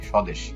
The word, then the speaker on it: স্বদেশ: যেমন স্বদেশ শব্দটি খেয়াল করো। দন্দস এর সাথে একটি বফলা আছে। এই বফলাটি উচ্চারণ হয়নি। স্বদেশ।